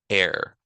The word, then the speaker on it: are: So in the metric system, we have air, which looks like R, but is pronounced air.